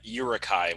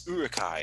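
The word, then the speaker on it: Uruk-hai: corrected all the time when i said uh urukai when it's like no it's urakai and i'm like so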